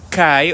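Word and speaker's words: καί: luego formas del verbo que se llaman el eh histórico presente Ahora bien eso de kai o en el griego moderno se pronuncia que em eso nada más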